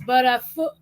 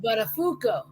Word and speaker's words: Buttafuoco: It's Butterfoot." He goes, "No, Matthew. No." He's like, "Out of all the pronunciations of that name, you gave the wrong one." He's like, "It was supposed to be Buttafuoco."